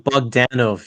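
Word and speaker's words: Bogdanove: Bdanov. Bdanov. It's John Bugdanov. You have to put the stress on Dan Bdanov.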